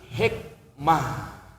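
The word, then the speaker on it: حكمة: Antiknya ta marbutah padahal ta kalau dibaca di akhir jadi ha. Hikmatun tulisannya dibaca mati hikmah. Semua ta marbutah begitu. Antiknya ta marbutah bacaannya mah tulisannya ta dibacanya ha.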